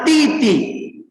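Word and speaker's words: 弟弟: Bacanya Titi.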